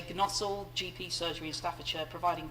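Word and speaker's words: Gnosall: one i don't know how to pronounce this i'm afraid it's spelt g n o s a double l i'm going to say g nozzle gp surgery and staffordshire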